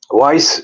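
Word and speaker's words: Wais: hamlets councelor Weiss Islam Weiss is spelled w a i s wise Islam so the first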